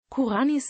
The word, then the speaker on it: Kurányi: 16 Lebensjahr in Lateinamerika kuranis Name wird in den deutschen Medien nur in den seltensten Fällen wie im ungarischen üblich als Kura ni mit Betonung auf der ersten Silbe ausgesprochen Karriere über die Vereine